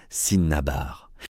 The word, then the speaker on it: cinnabar: Cinnabar se prononce Sinnabar.